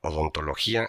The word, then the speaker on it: odontología: La palabra odontología es una idea que se hizo lenguaje y se volvió medible y clasificable. Tiene 11 letras lleva acento en la vocal débil para romper el diptongo y pesa tanto como